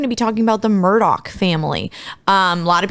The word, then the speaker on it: Murdaugh: be talking about the Murdoch family um a lot of people mispronounce their name it is Murdoch not Murda because people in the